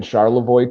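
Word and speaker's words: Charlevoix: And yeah, we will be dropping Charlavoy tonight. And yes, that's not even being funny. That is how you pronounce it.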